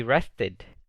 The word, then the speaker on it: rested: Pero si quiero decir él descansó, esto se pronuncia he rested. Ahora sí se pronuncia la E porque el verbo básico termina en una T.